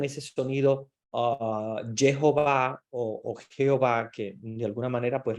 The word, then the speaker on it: Jehová: ustedes saben que obviamente la J que nosotros pronunciamos como j y la H no se pronuncia entonces quedó Jehová como